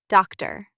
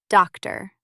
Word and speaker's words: doctor: Sometimes the letter O becomes a quiet uh. This happens in many longer words especially at the end. For example, doctor. Listen. Doctor, not doctor. The last O is very soft.